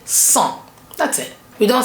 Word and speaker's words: cent: And the en, which is en, together makes it become a nasal vowel en, cent. So we have cent, 100.